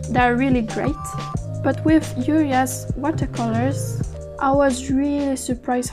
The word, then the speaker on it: Julia: Julia's paint spreaded really easy on the paper, so I had a bit less of control. Oh yeah, and in Swedish we pronounce Julia, not Julia, Julia, Julia, or whatever.